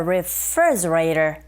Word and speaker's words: refrigerator: refrigerator, 여기서 R 발음으로 시작하는데 네, 이게 L 사운드로 들릴 수 있어요. 리가 아니고 re. 강세는 refree, 이 부분에 있으니까 refrigerator. 그리고 T 사운드 있죠, 맨 뒤에. 강모음과 양모음 사이에 자리 잡고 있습니다. 이런 경우에는 트가 아니라 르에 가깝게 들려서 우리에게 들리는 소리가, 즉 원어민의 입에서 나오는 소리가 refrigerator 이렇게 발음되니까 그대로 흉내내시면 되겠어요.